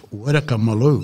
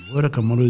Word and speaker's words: WyrkerMilloo: So it's WyrkerMilloo, and WyrkerMilloo is spelled W-Y-R-K-E-R.